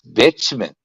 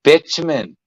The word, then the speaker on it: bitumen: all that yeah what is it called that's bitchman spell it I can't spell it mint it's bitumen men chmen yeah bitumen is a sticky like